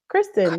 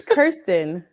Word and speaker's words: Kirsten: because I I think we've been saying her name wrong it's Kirsten Kirsten not Kirsten not Kristen Kirsten got it I don't